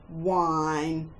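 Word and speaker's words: whine: And wine, not the one you drink, but when you complain. Mum, it's not fair. Wine is W, silent H, I as in kite, N.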